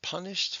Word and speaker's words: punished: It does sound like a T, but that doesn't mean it's spelled that way. This is one of the spellings of the ed suffix. He was punished for disrupting the class.